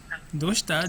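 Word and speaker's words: どうした: Ah, Dosta itunya juga agak naik ya pelafalannya dosta.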